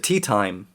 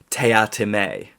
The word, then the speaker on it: Teatime: reminds people periodically that his name is pronounced teatime not tea time and that's a running